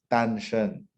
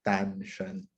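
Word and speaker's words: Danshen: This one is -Shen, like, as in my surname. See? Different herbs, but they sound alike. That's why whenever my wife always tells me, make sure you spell it out to the patient because the non-Chinese ear might make a mistake between Tang-Shen and -Shen. I'll never forget that.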